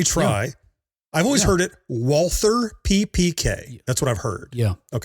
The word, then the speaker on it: Walther: I know he's not anglicizing it, but he pronounces it Valer. I guess maybe Russian name. Valer. He does a W like a V.